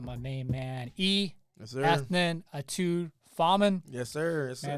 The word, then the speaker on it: Ethnan: Yeah, good job actually pronouncing that. A lot of people screw that up. We're going to start right there, man. Yes, sir. Because, like, when I first saw your name, I'm like, oh, Ethan.